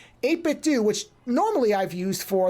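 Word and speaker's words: 8BitDo: So for that bag, I got I think it's supposed to say 8-Bit Do. I think that's the name of the company is how it's pronounced. 8-Bit Do, which normally I've used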